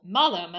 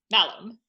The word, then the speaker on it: malum: the word for apple, malum, sounds a lot like the word for evil, malum. Basically, the only difference is that it would be a long A versus a short A.